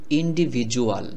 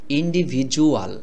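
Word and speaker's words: individual: করে বলছি কারণ কি এই ডি এর উচ্চারণ অনেক সময় ডর মতো না হয়ে জ এর মত উচ্চারণ হয় এটা জেনে রাখলে আপনাদের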